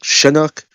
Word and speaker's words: Chinook: Isn't Chinook, look, the helicopter, it's pronounced with the like a SH sound, right? Like Chinook.